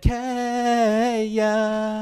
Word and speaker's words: Kaja: And I said, Kaya. Oh my God, yes. Kaya. I had no idea how you're going to pronounce that one, so I really had to wait till the pronunciation.